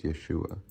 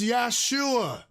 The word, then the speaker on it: Yeshua: They say his name was Yeshua. They said his name was Yesua. This is what they said about his name.